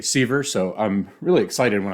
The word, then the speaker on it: Severs: this year and I addressed him as Jeffrey severs to which he uh promptly but courteously uh told me that it's actually sver so I'm really excited